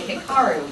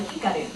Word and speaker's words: Hikaru: And they might want to say Hikaru, but it's really Hikaru.